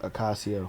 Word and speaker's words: Ocasio: Ocasio? Ocasio. It's like Casio watch with the O in front.